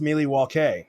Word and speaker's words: Milwaukee: to go that route actually bradley it's pronounced miley waukee which is algonquin for the good land yes thank you thank